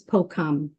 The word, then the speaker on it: Phokham: Um, growing up, so as I mentioned at the beginning, but my birth name is Pokum, and it's spelled Phokham. And I've heard it said in many different ways.